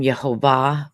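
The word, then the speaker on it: Jehovah: thoughts on this well I pronounce his name yehovah so there no sorry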